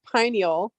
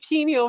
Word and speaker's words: pineal: It's pineal. So saying penial versus pineal is a world of a difference.